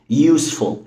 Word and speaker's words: useful: هي مش useful، الإي هنا ما بتتنطقش. useful.